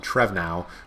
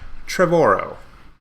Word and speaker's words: Trevorrow: from Colin Trevorrow who I always have to pause when I pronounce his name because I want to call him Colin Trevon al which is obviously not how it's pronounced but yeah Colin Trevorrow cool he posted the